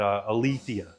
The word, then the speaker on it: Aletheia: And we confirmed after talking about this, it is Aletheia. So I guess I'd been saying it correctly for a little while, but Aletheia.